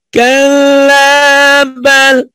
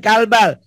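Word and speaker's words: كَلَّا بَلْ: Kalabal tuhibbunal ajilah. Bu. Kalabal. Bukan kalbal. Kala ada matobi dulu, Bo.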